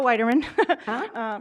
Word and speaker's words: Weiderman: Okay, still Laura Weiderman. Rhymes with Spiderman, that's how you can remember it.